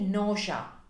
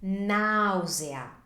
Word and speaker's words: nausea: to pronounce them, because in Italian we pronounce each vowel individually instead of blending them together.